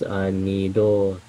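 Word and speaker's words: 二度: Zettai ni, I think that means, nido. I know that's not the right way to pronounce that. No, it's nido, a counter. That's correct. The counter is do. When it's not a counter, it's tabi.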